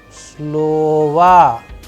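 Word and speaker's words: слово: the uda rainy or the stress sign falling onto a particular vowel like in this case it is falling on the first o that is why the sound and the pronunciation of this particular word is like slova slova that is why the last o is being changed into as if it is ah all right now we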